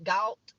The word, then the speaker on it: Galt: In Galt, it's spelled like salt, but with a G, Galt.